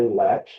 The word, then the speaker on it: Latch: I'm here with Patti Latch. Am I pronouncing that correctly? Yep, just like a door Aw- latch.